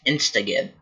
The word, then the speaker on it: Instagib: I literally did not know how to pronounce Instagib. That's Instagib.